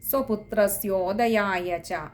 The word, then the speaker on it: സ്വപുത്രസ്യോദയായച: പിന്നെ അടുത്തത് സ്വപുത്രസ്യോദയായച സ്വപുത്രസ്യോദയായച അവിടെ ഓകാരം ഉദയായ ആണ് സ്വപുത്രസ്യോദയായച അതും കൂടി ശ്രദ്ധിക്കുക ഇത്രയും